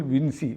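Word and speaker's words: Vinci: ഗാന്ധി അല്ലെങ്കിൽ രാഹുൽ വിൻസി വിൻസി എന്നും ഉച്ചാരണം ഉണ്ടെന്ന് പറയുന്നു വിൻസി എന്നാണ് പലരും പറയുന്നത് റൗൾ വിൻസി എന്ന് പറയുന്നു റൗൾ വിൻചി എന്ന് പറയുന്നു എന്നൊക്കെ പറയുന്നു എന്തൊക്കെയാണെങ്കിലും നമുക്ക് വേണമെങ്കിൽ വിൻചി എന്നുള്ള ഉച്ചാരണം നമുക്ക് എടുക്കാം അതാണ് കൂടുതൽ ശരി എന്ന് നമ്മുടെ ചില വെൽവിഷേഴ്സ് പറഞ്ഞുകൊണ്ടാണ്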